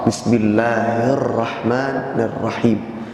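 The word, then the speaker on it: بسم الله الرحمن الرحيم: Bismillahirrahmanirrahim. Matnya jangan lebih dari 2 harokat.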